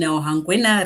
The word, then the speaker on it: Hangwena: We are in Hangwena region. I know you won't you won't pronounce that. Try it. We are in Hangwena Hongwena region. region. Hongwena region. I got it.